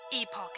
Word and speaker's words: Epoch: Epoch is large and in charge.